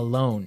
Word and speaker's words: loan: A loan, yes. Not to be confused with alone, like by myself. No, so this is L-O-A-N. Loan.